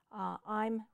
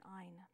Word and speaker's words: I'm: tendency when speaking quickly to pronounce an N rather than an M when you say I'm. I would recommend that you really work carefully on your pronunciation on that particular word, I'm rather than ein.